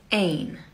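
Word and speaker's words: één: how you say the number one it is pronounced ain but when you want to say a house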